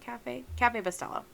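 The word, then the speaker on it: Café Bustelo: And I think, don't quote me, but I think that is what is left of the Cafe Bustelo. Is that how you say it? Cafe Bustelo. That's it.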